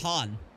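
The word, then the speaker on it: はん: San, sometimes pronounced Han. It's the same thing as San.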